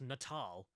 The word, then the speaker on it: Natal: It's pronounced Natal.